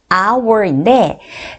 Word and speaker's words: hour: 시간 하면요 hour입니다 여러분 발음이 한식의 시간 하면 our인데 자 이게 발음이 our 해서 hound가 무궁으로 나와요 그럼 어떻게